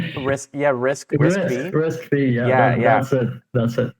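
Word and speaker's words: RISC-V: Well risk yeah risk risk fee. Yeah, that's it. That's it. So risk fee is something that maybe is going to be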